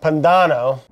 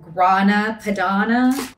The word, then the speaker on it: Grana Padano: Grana Padano. Grana Padana? Grana Padana. It's Padano.